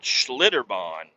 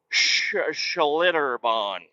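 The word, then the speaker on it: Schlitterbahn: I guess it's Schlitterbon. That's an S and a C and a H. Schlitter. Schlitterbon. And bon is b a u g- hn bawn.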